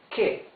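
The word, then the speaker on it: que: so here it says k k means what here it says Ken Ken Ken means who you can see that the U is muted you don't read this qu you read this k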